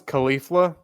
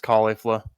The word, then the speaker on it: Caulifla: things correctly I thought I thought it was Khalifa but apparently I just saw some CL some clips of the of the dub and super and it's caulifla okay so I think